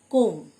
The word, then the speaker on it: comb: কোম, COMB, be silent. Poem মানে চিরুনি।